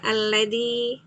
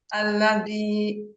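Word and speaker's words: الذي: Alladzi. Alladzi. Heeh. Ini lebih baik dari yang pertama tadi. Alladzi gitu. Alladzi. Alladzi. Iya. Bisa dipelajari kok ini ya. Sehingga nanti dalnya itu jangan jangan tebal pengucapannya ya.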